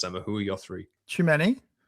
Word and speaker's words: Tchouameni: Tchouameni. Am I saying it right? Tchouameni? Tchouameni, yeah. Tchouameni?